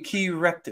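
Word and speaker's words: Kerekt: spell it phonetically is the way I spell it on my book, K-E-R-E-K-T.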